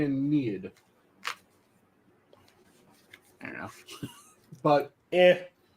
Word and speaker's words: Aeneid: I believe it's pronounced Yiniad, isn't it? I've heard mainly Aeneid.